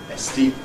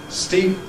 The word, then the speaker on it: steep: To get rid of that extra vowel, estee becomes steep. And you must not even think of a vowel there.